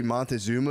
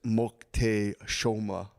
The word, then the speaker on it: Moctezuma: Apparently, the way you say Montezuma is Moctezuma.